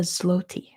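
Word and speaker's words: złoty: Because in English, it's the zloty. But I know that's not how they say it in Poland, like at all.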